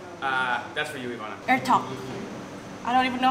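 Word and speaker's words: Etok: Pronounced like Ertok. That's for you, Ivana. Ertok.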